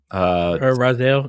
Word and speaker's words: Raziel: Raziel? Raziel, yeah.